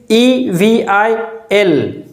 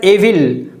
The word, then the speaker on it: evil: eval its spelling is e v i l it is wrongly pronounced as evil by most of the speakers but it is not evil it is evil evil is correct evil is wrong the next important word is